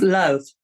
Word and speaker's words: Louth: It's Louth, Louth. as in south.